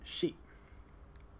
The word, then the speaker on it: ရှိ: the future so let's start with the verb sheep it's pronounced she usually in English it's translated to